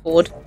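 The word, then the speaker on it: Fforde: There's these books I like by Jasper Ford, spelt with two F's. So I always want to say Jasper for Ford, but I guess it's just Ford.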